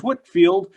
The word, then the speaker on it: Whitefield: you guessed it george whitefield except they happen to spell it the way it sounds uh interestingly enough and